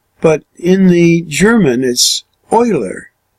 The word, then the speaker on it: Euler: think you'd pronounce that euler but in the german is euler it's like oil oh i L er